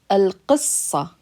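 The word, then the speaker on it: القصة: Al-qissa, al-qissa, al-q, qissa, sa. It's the ah sound, so that's a heavy sad. It's got a shadda because we're pronouncing it twice.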